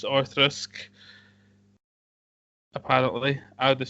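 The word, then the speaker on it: Auchroisk: u c h r o i s and pronounce orisk apparently I would have said orisk but what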